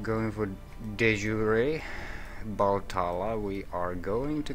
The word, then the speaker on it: de jure: Domain and Deshur. Deshur, I'm pronouncing it. Wrong. Not really, though. I think I'm doing the French pronunciation, but in English, it should be something like De Jure.